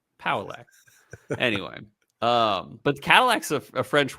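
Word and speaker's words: Pauillac: It's like Cadillac. Paullac.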